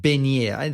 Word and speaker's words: beignet: So in Africa, there's a thing called beignet. That's how they say it in French.